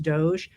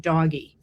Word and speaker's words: DOGE: people who wrote to me to say it's pronounced Doge, I knew it was pronounced Doge, but I didn't want to take it seriously. And that's why I've always pronounced it doggy.